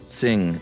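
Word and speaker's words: Qing: trouble pronouncing q-i-n-g Dynasty Q may be roughly pronounced as TS so not exactly the same so just say sing next time that would do I I didn't I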